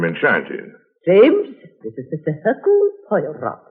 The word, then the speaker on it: Hercule Poirot: Hercule Poirot. How do you do, sir? Mr. Poirot is our new neighbor. If I may be permitted one slight correction, my name is Hercule Poirot.